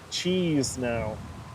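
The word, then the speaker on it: Chișinău: He pronounces it cheese now.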